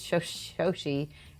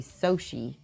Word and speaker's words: Shoshie: I'm glad, because my name is Shoshie, and everybody always calls me Shoshie, which is actually incorrect.